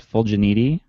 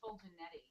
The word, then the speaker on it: Fetti: of your name so is it fanti it's actually Fetti can you call janetti